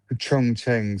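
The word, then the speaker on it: Chongqing: Cheng Chongqeng C H O N G I N G Q I N G Yeah, cuz Ch is pronounced Ch, isn't it?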